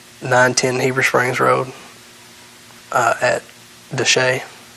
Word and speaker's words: Desha: and then uh 910 Heber Springs Road at Deshay Deshay yes sir what about Batesville that's Batesville to say it's spelled the show d-e-s-h-a all right is that